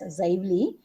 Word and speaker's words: Xively: Okay, it is pronounced as Xively.